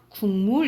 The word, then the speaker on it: 국물: 자, 우리 이거 어떻게 발음나? 국물 이렇게 발음 나거든요. 그래서 이 기억이 미음의 영향을 받아서 이응으로 발음되는데, 이렇게 앞에 게 바뀌면 역행동화라 생각하시면 되고, 두 개 다 바뀌었다.